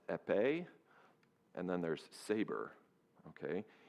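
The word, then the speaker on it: épée: There's one called foil that's pronounced epe and then there's saber.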